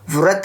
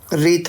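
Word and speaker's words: wreath: इसको व्रत नहीं पढ़ेंगे, इसको रीत पढ़ेंगे। क्या पढ़ेंगे दोस्तों? रीत। क्या होता है ना, आर से पहले अगर डब्लू आ जाए तो डब्लू को साइलेंट कर देते हैं, तो इसको हम पढ़ेंगे रीत।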